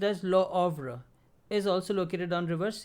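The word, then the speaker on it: Le Havre: scene and lo ovra so h is silent so it is pronounced as lo ovra is also located on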